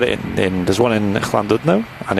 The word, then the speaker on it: Llandudno: I've had it in there's one in Llandudno, and it's Did you just say that proper then? yeah, Say that again. Llandudno.